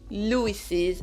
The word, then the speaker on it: Louis's: anglais et en plus il faudra le prononcer. Il s'entendra. Donc pour dire la tension de Louis, on fait notre inversion et ça va se prononcer Louis's attention. Louis's attention.